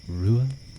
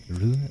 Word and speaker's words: Ruadh: My name is pronounced Rua Ua. Rua Ua. It's an Irish name, so it might seem a little bit confusing to pronounce, but trust me, the C is a Q sound.